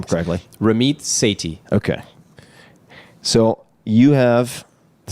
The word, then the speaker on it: Ramit Sethi: safety how do you say your name frankly Ramiz say T okay so you have the second edition of